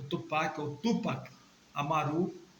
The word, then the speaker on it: Amaru: Perdão, Tupac não é Amuru, é Amaru. A gente tem que ter cuidado com a pronúncia.